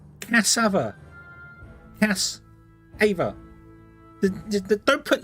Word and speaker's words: cassava: Cassava, but don't pronounce the R's. So cassava. Okay, there you go. But don't pronounce the R's. Cassava. Cassava. Right.